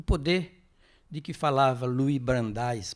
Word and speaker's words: Louis Brandeis: O poder de que falava Louis Brandeis, pronunciam assim, ele foi ministro da Suprema Corte norte-americana, morreu em 1943.